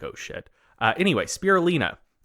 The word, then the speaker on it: spirulina: So we're talking about, we looked up the pronunciation before this started. Spirulina, right?